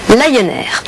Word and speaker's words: Lion Air: air et vous noterez qu'il fallait évidemment prononcé lie nerfs la compagnie low cost lion air et vous noterez